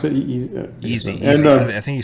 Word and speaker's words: Yeezy: Is that how you pronounce it? Yeezy.